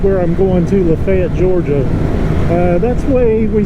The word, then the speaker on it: Lafayette: If you're from anywhere else, you might be thinking Lafayette. It's Lafayette. But here we say Lafayette. Just wanted to clear that up because I know there'll be somebody out there wondering what I'm talking about. But it's spelled like Lafayette, but it's Lafayette.